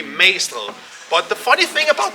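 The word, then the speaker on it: Magstræde: It's called, the way you pronounce this, Magstred. You don't really say the G, you say Magstred.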